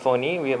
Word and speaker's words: Fani: It is pronounced Fani, even though it's spelled as Fani.